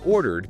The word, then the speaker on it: ordered: So in ordered because the verb stem order ends in a vowel sound r, the ending is just a d sound. And crucially, this D sound isn't a full extra syllable like in wanted. It's just a light ed sound attached right onto the end of the word order. Ordered. Yeah, it's subtle. You definitely don't hear ordered it.